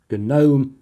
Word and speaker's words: GNOME: typing in the comments, the second one of these is pronounced GNOME. The G is stressed because it stands for GNU Network Object Model Environment. It's got nothing to do with small creatures you might find in your garden.